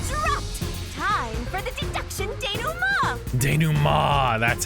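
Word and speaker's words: dénouement: Time for the deduction denouement. Denouement, that's how that one's pronounced.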